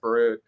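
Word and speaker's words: Barord: Gregory, I think his last name's pronounced Barud.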